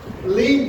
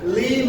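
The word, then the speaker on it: limb: শব্দের শেষে বিএম থাকে তবে বি এর উচ্চারণটা সাইলেন্ট হবে। যেমন কিছু ওয়ার্ড এখানে আমরা লক্ষ্য করছি, এখানে আমরা দেখতে পাচ্ছি লিম হবে না, লিম হবে।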